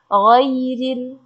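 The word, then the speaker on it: غير: Ghairil, ghairil. Nah, gha-nya di situ walaupun dia fathah, gha bukan go. Kalau go itu kuat.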